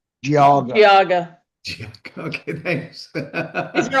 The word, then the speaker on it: Geauga: Giga? Geauga.